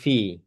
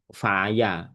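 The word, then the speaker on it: في: Maka harakatnya pasti fi ya bacanya fi enggak mungkin faya, enggak mungkin ee apanya fuyu gak mungkin pasti fi ya karena huruf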